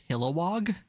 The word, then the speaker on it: Kilowog: Can you pronounce it right? Kilowog? Yes, Kilowog is correct.